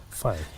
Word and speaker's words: fy: How do you pronounce that? Fi.